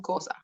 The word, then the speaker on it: Xhosa: That one was in Xhosa. You see, Xhosa is how you say it, but we just, if you don't want to do the click, you just, the XH becomes a K.